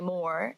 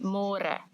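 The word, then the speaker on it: môre: easier but it just you have to remember to read more cuz in English it's spelled like more so don't say more say more and the older generations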